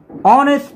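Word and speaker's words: honest: এর আগে এন বসেছে অনেস্ট ম্যান অনেস্ট ম্যান এখানেও এইচ এর উচ্চারণটা সাইলেন্ট এবং তারপরে ভাওয়েল আছে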